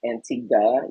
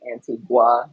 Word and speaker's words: Antigua: And I learned that it is pronounced Antigua. Us Americans, we pronounce it phonetically Antigua. It's not a gua, it's a guh.